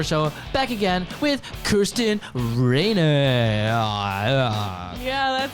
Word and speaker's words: Raynock: the Jason score show back again with Kirsten Rayner yeah that's how you say it now on